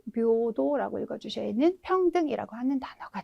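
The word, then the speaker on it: 平等: 발음 묘도라고 읽어주셔야 하는 평등이라고 하는 단어가 되겠습니다.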